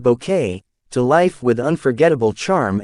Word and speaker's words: Bucket: Born in 1929, she brought the iconic overbearing hyestin bucket pronounced bouquet to life with unforgettable charm and comic timing.